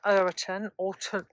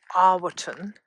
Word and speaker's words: Erwarton: The village of Erwarton, alternatively could be pronounced Erwarton, is recorded in the Domesday Book, and of course that was commissioned by William the Conqueror in 1085-86.